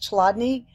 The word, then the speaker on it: Chladni: what they call a chladni plate. I've also heard it pronounced chladni.